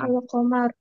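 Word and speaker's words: القمر: Contohnya alqamar. Betul. Ini yang diucapkan hukum ini dinamakan izhar qamariah atau alif lam qamariah. Nah, gitu. Jadi diucapkannya huruf lam dengan jelas ditulis dan dibaca gitu ya.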